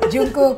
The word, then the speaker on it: Jungkook: Bacanya gimana? Jungkook.